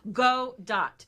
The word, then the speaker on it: Gadot: out how to say you know it's great go dot is how it is pronounced Galgo dot so lots of imagery and